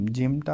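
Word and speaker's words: ج: এগুলো সব ইয়া জিম জিমটা আপনারা পড়বেন শক্ত করে জিম জিম জিম জিম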